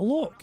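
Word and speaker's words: Loch: a nice Scenic area says how they pronounce that look l c h look you you never heard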